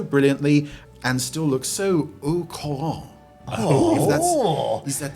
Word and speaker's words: au courant: just dated so brilliantly and still look so au courant. Is that how we pronounce this?